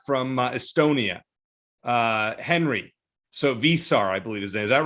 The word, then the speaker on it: Veesaar: of the other i think that the official pronunciation guide according to the media release is actually vasar bay star okay so you might hear both